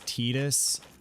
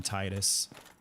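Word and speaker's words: Tidus: that the name of the main character is tetus I still call him Titus I refuse to change you need 36 okay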